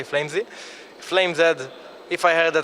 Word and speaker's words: Flamez: Flamez was the original thing. Flamez was like in Israel how people used to pronounce it, and now myself I pronounce it till to this day Flamez.